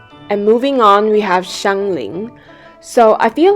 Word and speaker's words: Xiangling: And moving on, we have Xiangling. So, I feel like her name gets confused very often. I've heard people say Xangling and Xingling :') but the correct pronunciation is Xiānglíng.